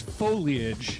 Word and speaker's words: foliage: Is it foliage or foliage? It's foliage. Foliage. It's 3 syllables.